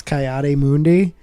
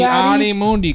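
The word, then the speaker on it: Ki-Adi-Mundi: that movie came out, I had no fucking clue how to pronounce Coyote Mundi.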